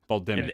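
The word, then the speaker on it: Bal'demnic: is it will the the N you do not pronounce in terms of the audio book uh the way it's bmic Bal yeah you don't say the N okay all right balic and that could be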